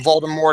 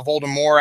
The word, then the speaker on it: Voldemort: if we discussed it Voldemort we've been pronouncing it wrong the whole time was we call him Voldemort it's now Voldemort actually because he was more French I think we talked